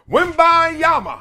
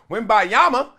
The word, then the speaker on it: Wembanyama: Victor Wembanyama.